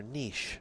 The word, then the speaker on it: niche: Niche rhymes with quiche, which is from France, and there happens to be two Frenchmen involved in this pot.